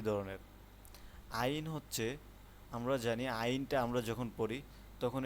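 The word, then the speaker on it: عين: আইন আর হচ্ছে গাইন। দুইটি হরফ সেম একই ধরনের। আইন হচ্ছে আমরা জানি আইনটা আমরা যখন পড়ি তখন এটা গলার মধ্যখান থেকে গলার মাঝখান থেকে এটা উচ্চারণটা আসে।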